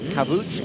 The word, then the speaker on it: Kavuç: I got told off actually by the Turkish contingent that I was pronouncing his name wrong. So Harun Kavuç, and we wish him very well.